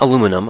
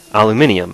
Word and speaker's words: aluminium: need for this and it's not aluminum I'm not pronouncing it the British way it's actually aluminium it's spelled that way I believe the mod